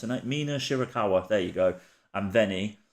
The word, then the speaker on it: Mina Shirakawa: me words today right shy how do you pronounce it Mina shirakawa there you go and venny versus Jordan Grace